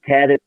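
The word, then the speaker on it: Cadiz: And then I found out Pamela's story started in Cadix, I believe.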